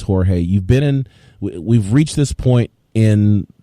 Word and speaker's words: Jorge: is that he calls Jorge Masvidal George. It really annoys me. Like, dude's name is Jorge Masvidal. We all know it's Jorge.